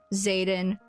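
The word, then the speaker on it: Xaden: Violet walks away is hey stay away from Zaden rorison I think is his last name Zaden is spelled x a d en she says stay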